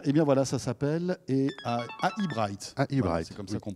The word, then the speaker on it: AI Bright: oui très bien et bien voilà ça s'appelle et bright c'est comme ça qu'on prononceelli et vous serez tout comme nous d'ailleurs